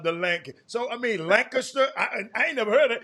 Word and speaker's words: Lancaster: Sometimes we call it Lancaster, but it's not how you pronounce it up there. How's it pronounced the high school? It's pronounced Lancaster.